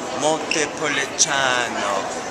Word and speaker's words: Montepulciano: Once you learn how to pronounce it, and it is just Montepulciano, once you learn how to pronounce it, you feel like an insider in restaurants.